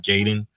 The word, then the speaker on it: Ninja Gaiden: I picked up Ninja Gaiden, however you say it. For everybody out there, I pronounce it Gaiden.